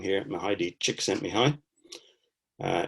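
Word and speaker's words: Csikszentmihalyi: sent me high uh if you want to pronounce that i've made it really easy for you because you just break it down into chick sent me high in brackets there um i got the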